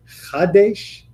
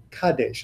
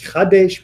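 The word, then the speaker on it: חַדֵּשׁ: Notice, by the way, Chadesh, not Kadesh. A lot of people mispronounce that because the ch and the k are really linked. It's Chadesh because we are saying renew, make it Chadash,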